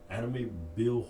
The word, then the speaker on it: Amityville: I know people are like, oh my god, but that Amityville Horror.